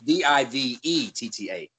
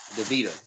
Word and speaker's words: Divetta: No, it's Divetta. Divetta. Oh, DeVita.